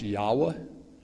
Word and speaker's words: Yahweh: it looks like YH wh YH wh it's pronounced Yahweh um people have anglicized it and made the